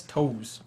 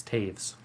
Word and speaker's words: Toews: So that's TOEWS, which is why Quinn can't pronounce it. How is that Taves? That's toes. It's Taves. Oh, yeah, we live in a stupid language.